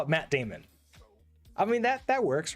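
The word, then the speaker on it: daemon: you to be a Damon mode how do you pronounce it do you pronounce it Damon mode or demon mode I've always used Damon to sort of differentiate from like demons okay so this is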